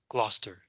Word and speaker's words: Gloucester: the county of gloucester this word is pronounced as gloucester you can ignore the sea so on this date